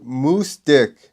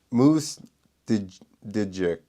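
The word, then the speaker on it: Moosdijk: Rowan van de Moosdik. What? There's a J in there. Moose Dijic, which is how you say dick in the Netherlands.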